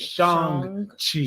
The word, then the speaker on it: Shang-Chi: The proper pronunciation is Shang-Chi. Shang. Shang. He went over it several times. S-H-A-N-G. Shang. Shang-Chi.